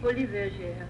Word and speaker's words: Folies Bergère: Folie Bergère.